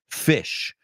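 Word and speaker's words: Phish: their logo they uh they spell it pH like telephone or Pharmacy fish and great band uh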